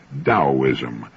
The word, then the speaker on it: Taoism: I found his discussion of the Chinese Taoism of particular interest. Now, that's spelled Taoism and often mispronounced Taoism. Taoism.